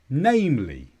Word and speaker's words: namely: you at your leisure namely this is an adverb with a stress on name and this means to